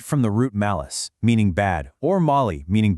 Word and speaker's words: mal: The code is the powerful Latin root mal, which rhymes with pal, gal, or shall.